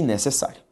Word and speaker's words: necessário: Essas palavras aqui, ó, armário, carie e necessário. Ok? Quando eu olho essas palavras que estão aqui apresentadas, nós observamos o seguinte. A sílaba tônica delas, qual que é? Armário, ma. Carie, ca. Necessário, sa. Necessária, sa.